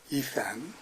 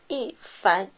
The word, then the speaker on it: Yifan: Ethan. Wrong. Yeah. Uh, okay. Better. But the correct one is ean.